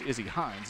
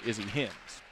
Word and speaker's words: Izzy Hines: through the day today it is Izzy Hines not Izzy hins squads ready to rock